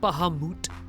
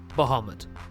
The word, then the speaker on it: Bahamut: Carbuncle, Leviathan, Pandemona, Bahamut, not Bahamut, Bahamut.